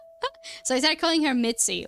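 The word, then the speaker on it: Mici: Mitzi, Mitzi. Technically, in Czech, it's spelled M-I-C-I, Mitzi, Mitsina, right?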